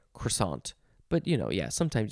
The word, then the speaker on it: croissant: is the word croissant you can pronounce it croissant croissant croissant so this one this pronunciation it says k-r-w-a for the first part croissant but see whenever i try and say it all french and fancy i say croissant there's no r sound in there cuason um but this